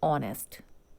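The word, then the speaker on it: honest: For example, ऑनेस्ट इज a word, ऑनेस्ट word का जो pronunciation है वो क्या हो रहा है? ऑनेस्ट, ओ से स्टार्ट हो रहा है।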